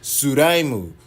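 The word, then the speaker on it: スライム: Which is in Japanese pronounced Suraimu.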